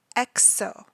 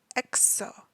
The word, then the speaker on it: EXO: The group is EXO, EXO, and their fandom is called EXO-L, EXO-L.